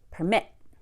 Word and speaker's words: permit: course what about verbs if you have a two syllable verb we often stress it on the second syllable so it's exactly the opposite of a noun permit when I say the word permit as a verb I go like this permit like I'm flicking something